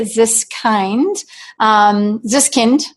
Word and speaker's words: Ziskind: The next question comes to us from Ziskind, like a kindergarten.